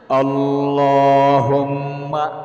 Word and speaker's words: আল্লাহুম্মা: আমি স্ক্রিনের মধ্যেও দিয়ে দিচ্ছি, একবার সহি শুদ্ধ উচ্চারণটা বলে দিচ্ছি, খুব মনোযোগ দিয়া শিখে রাখুন। আল্লাহুম্মা বলেন, বলতে হবে, না বললে সহি শুদ্ধ হবে